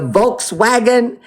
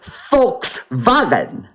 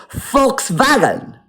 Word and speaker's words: Volkswagen: Forishite that v is pronounced f like f. So when you see the word volk vulkwagon the volkswagon it's really the folks vagen.